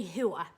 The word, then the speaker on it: whore: probably use the word WHORE, WHORE W-H-O-R-E like a woman of disrepute, from whorehouse, but we'd say WHO-OR, it's a lot easier to say. I think, there's a lot more emphasis in the two syllables WHO-OR, WHOOR, alright.